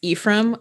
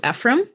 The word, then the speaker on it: Ephraim: And then our mispronounced one is Ephraim. A lot of people do Ephraim because that's a kind of a common not common boys name, but it's a name.